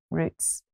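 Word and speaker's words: Routes: The name Roots, it's spelled R-O-U-T-E-S, and it comes from the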